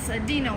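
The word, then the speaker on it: Dinaux: Her name is Dino, like dinosaur. It's spelled like in a French way, D-I-N-A-U-X, and she's not my dog.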